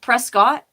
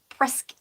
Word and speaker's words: Prescott: how you say it it looks like Prescott but I'm pretty sure the folks who live there pronounce it presc and I have a